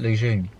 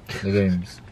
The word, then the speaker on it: legumes: Lejeune. Lejeunes. Legumes.